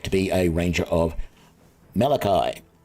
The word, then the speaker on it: Mielikki: be a ranger of Malachi um or Maliki Maliki that's how you pronounce it at least that's the